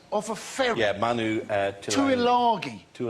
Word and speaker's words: Tuilagi: Yeah, Manu Tuilagi. Tuilangi. Well, there's no N in there. If you want to... No, it's the pronunciation of it, actually.